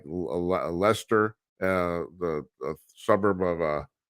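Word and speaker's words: Leicester: you know English spelling you know like like leester uh the suburb of uh of of London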